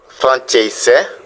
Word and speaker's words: francese: C se prononce ch devant E et I. Par exemple, ciao, salut, francese, voyez, C, E, ça fait ch, francese, ciao, francese, français, ciao, salut.